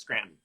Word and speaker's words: Scranton: Correct pronunciation of Scranton is without the T. It's Scranton. Scranton.